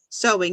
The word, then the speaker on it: sewing: way to say it sewing even though it's spelled as ew you say an o sewing sewing okay good um